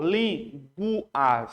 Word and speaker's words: línguas: Ó, você percebe que o GU não é dígrafo, porque o U você pronunciou, linguas, você pronunciou o U.